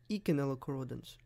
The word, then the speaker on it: Eikenella corrodens: this videos first bug eikenella corrodens or like some people like to pronounce it Iike knell accordance anyways title of the